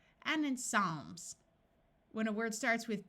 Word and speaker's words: Psalms: uses its second sound of c and in Psalms when a word starts with PT the P